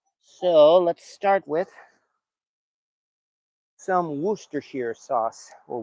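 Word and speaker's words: Worcestershire: for this weekend so let's start with some wer Shear sauce or Worster Shear sauce actually or yes they're calling it these days wash your sister sauce I grew up with Worster sheare sauce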